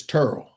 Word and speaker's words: Terrell: I called it Terrell County. That's how it's spelled and how you would pronounce it, California. But in Georgia, it's Turl.